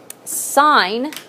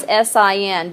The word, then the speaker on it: sine: on your calculator is SI n but you do not say sin okay you you want to sound educated and you know